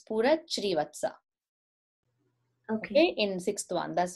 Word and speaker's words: Shrivatsa: Words wise pronunciation, only one place. It is not Spurak Krivatsa, it's Spurak Shrivatsa.